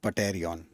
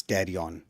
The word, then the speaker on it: pterion: Whenever there is any of the fight, this area is called as the pterion. Right? Not pterion. Right? P is silent. It is pterion.